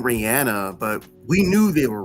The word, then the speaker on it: Rihanna: name is Brazilian so of course there's a pronunciation but what I mean is like people were saying Rihanna but we knew they were wrong immediately like Rihanna was saying her name correctly Jay-Z was saying